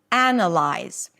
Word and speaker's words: analyze: Anna and then you have the common suffix lies. Lies like realize or recognize. Analyze.